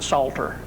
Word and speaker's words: psaltery: This is a bowed psaltery. A psaltery that you use a bow on. The The old-timers used to pronounce it a salter.